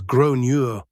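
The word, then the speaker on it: Gráinne: At this point, the alarm bells are ringing in my head because I've realized that the kid is called Grania, generally pronounced as Gronure or thereabouts.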